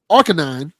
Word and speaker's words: Arcanine: We have Arcanine.